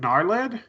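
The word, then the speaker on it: Gnarlid: Is it Narlid? Yes, Narid. Narlid. I kept trying to say car. I don't even know. It's Narlid. The G is silent.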